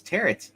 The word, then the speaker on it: tarot: It's Tarot by Jim Balint.